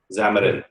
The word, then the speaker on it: Xamarin: Xamarin.